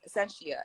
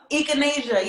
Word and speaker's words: echinacea: one I think it's I said she asked it wrong Essentia and ginger oh I never heard of that one I'll be saying my own I'll be pronouncing my own my own way do you mean echinacea is it is it is it I said it right the first time no echinacea yeah yeah Echinacea and now